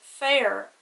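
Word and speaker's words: féar: father on the e it's pronounced fair and it means grass so man grass very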